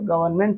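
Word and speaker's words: government: जैसे लिखिए column solemn गवर्नमेंट गवर्नमेंट में एम के पहले एन आता है। तो वहां पर गवर्नमेंट में क्या रहता है? एन साइलेंट रहता है। ठीक है? गवर्नमेंट पढ़ते हैं उसको।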